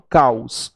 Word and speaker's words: caos: caso da palavra caos Eu não falo cá hoje para o caos o o tem som de u logo ele é uma